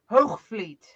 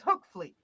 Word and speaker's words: Hoogvliet: it's spelled but it you pronounce the G like a k and the V like an F for American it's hook Fleet where are you from